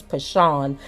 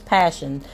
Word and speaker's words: Passion: is passion passion Jeffrey I think in my other video I said it was pashawn but the way her mother um pronounced the name in the news conference was passion and so we don't